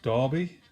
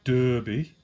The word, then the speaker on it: Derby: is derby county and yes it's pronounced darby not derby um you'll just have